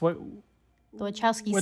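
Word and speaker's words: Wachowski: you say their name I thought it was wowski but I guess I'm wrong no you're right it's wowski siblings wowski siblings butow yeah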